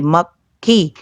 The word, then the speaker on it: मक्खी: देखो आप बोलेंगे तो उसके साथ आप लोग क और ख दोनों का उच्चारण करेंगे, मक्खी।